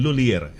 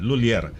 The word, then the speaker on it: Lhuillier: Dalawang syllables lang, hindi pwedeng LHUILLIER. Yan, LHUILLIER.